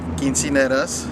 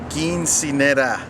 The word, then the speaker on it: quinceañera: Right now I'm doing a lot of corporate weddings, quinceañeras. That's where you got started. Let me pronounce that correctly for everyone. Quinceañera.